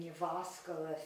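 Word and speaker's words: Jyväskylä: that time our next conference was hosted in you've asked Allah Finland that is the correct pronunciation our board member you're awesome worked on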